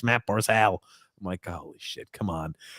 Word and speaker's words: Barzal: i've got two l's on here it's matt barsal oh my god holy come